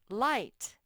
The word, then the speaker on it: light: to before you remembered light the gh doesn't say anything like astronauts feel very